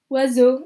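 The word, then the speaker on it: oiseaux: bet you it's uh you're gonna go crazy when I tell you that this is pronounced wazoo that means Birds hey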